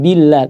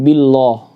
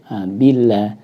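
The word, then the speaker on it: بالله: Jadi a'udzu, kemudian billah, tidak billah. Billah.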